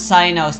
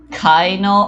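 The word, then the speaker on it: Cyno: By the way, that's how you pronounce Sino's name.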